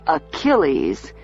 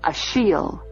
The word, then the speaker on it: Achille: I know you must have got the name from something Bean wrote, because the name is not pronounced Achilles, it's pronounced Ashiel. French.